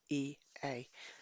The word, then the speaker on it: Ea: When we look to discover who founded the Brotherhood, Mesopotamian texts point right back to the rebellious god Prince E, which is spelt E-A, and is also Enki.